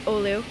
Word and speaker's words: Olu: his correct the correct way to say it olu so it's a keychain i have a little